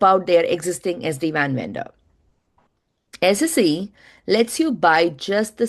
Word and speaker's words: SSE: So, which brings to 2021, the third acronym, which is the one that Gartner introduced, SSE, Security Service Edge, pronounced SSE, not SE.